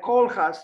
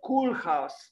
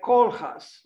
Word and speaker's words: Koolhaas: And I think she said something like Koolhaas, not Koolhaas, like in English, C-O-O-L, because this is not in English, it's in Dutch, like Koolhaas, Rem Koolhaas.